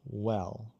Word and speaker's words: well: Porque a diferença entre se você pronunciar well, como Pra o não fechar. português, vão aos lados well. Vão os lados e ficar. Não vão o, well, não, well, well. Well. Aí faz de novo, well.